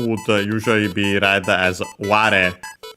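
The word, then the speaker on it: 我: The kanji on its own would usually be read as ware. Ware, accent on the first mora, is technically another first-person singular pronoun, I.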